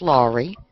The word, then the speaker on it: Lowry: It's actually pronounced Lowry. Lowry, okay. L-A-W, like law, and then Ree.